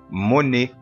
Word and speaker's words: Monet: الأو تي في نهاية الكلمة الفرنسية تنطق فنقول إيه Monet.